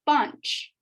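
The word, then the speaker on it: पाँच: have bunch bunch uh again i added the two a's because it's not ad it's not bench or punch it's bunch bunch so the bunch so the n is kind of subtle but it's there it's bunch bunch but simple enough that's five so now you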